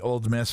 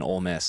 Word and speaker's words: Ole Miss: Also, I love the fact that you pronounced the non-existent D in Ole Miss.